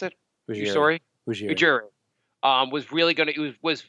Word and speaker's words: Ujiri: How do you pronounce it? Ujiri.